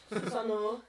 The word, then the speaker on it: Susanoo: Susanoo O. Susanoo, it's an extended O.